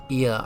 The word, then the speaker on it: Ea: When the vibration of vocal folds was still required to convey our thoughts and intention, Ia, I believe, was the pronunciation used when referring to our people.